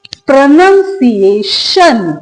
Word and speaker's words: pronunciation: ए को सेपरेट पढ़ा जाएगा अ। और टी आई ओ एन तो आप सभी जानते हैं इसको प्रोनाउंस किया जाता है शन। तो हमारी करेक्ट प्रोनंसिएशन। क्या हो गया वर्ड? प्रोनसिएशन।